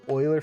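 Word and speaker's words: Euler: It's spelled uler but it's pronounced oiler based on a mathematician.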